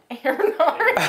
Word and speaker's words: Earhart: Earhart?